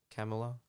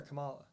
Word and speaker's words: Kamala: Camelo running uh I guess that's how you pronounce her name Kamal Kamala is it camel or Kamala Kamala I'll I'll switch friends K Harris K